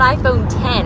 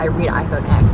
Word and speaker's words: iPhone X: Let's talk about iPhone 10 or X or whatever. I think it's pronounced 10. I know that, but every time I read iPhone X, not iPhone 10.